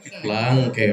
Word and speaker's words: Laangke: Yang saya hormati Bapak Kepala Desa, bacanya Langke atau Langke? Langke, karena panjang aja.